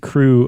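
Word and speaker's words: krewe: Uh but Crew is spelled with a k r e w e.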